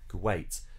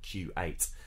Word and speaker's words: Kuwait: you would say qatar you're influenced by the pronunciation of kuwait because that's got stress on the second symbol you'd say kuwait not q8 and but it is